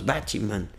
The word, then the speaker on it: Batman: você não tem esse fazendo ficar três sílabas e não duas Batman Batman no inglês só tem duas Batman eu vi o alfabetismo